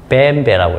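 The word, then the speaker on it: BMW: 그래서 하뉴라고 읽어요. 하뉴. 자, 자동차 중에 이런 거 있죠? 이거 독일차죠요. 걔네들 어떻게 있습니까? 뱀배라고 있습니다.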